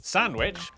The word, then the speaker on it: Sandwich: as the cester in, Cirencester, the W in, Sandwich.